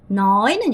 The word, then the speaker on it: nói: noy는 여러분 말하다.